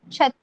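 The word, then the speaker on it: छत्तीस: 36 is called as 36, 36, CHATTIS 36.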